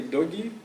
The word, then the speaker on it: toki: So you could say instead of toki, say dogi, and that would mean exactly the same word.